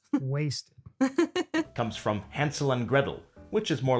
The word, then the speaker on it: Gretel: So here we should note that the T in water, as well as the T in Gretel, is generally pronounced as a glottal stop in Cockney English.